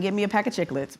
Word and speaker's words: Chiclets: And that's how you pronounce it, chiclets.